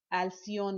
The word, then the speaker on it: Alcyon: of preclinical research at Alcyon Life. Am I saying it right? Mhm. Is it Alcyon? Yeah, Alcyon license.